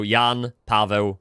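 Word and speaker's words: Jan Paweł: First, Pope Joan Paul uh we we we we say his name in Polish, Yan Pavi. John is Yan like uh Jan, but you pronounce it in Polish, right? Yan. And Paul is Pavo.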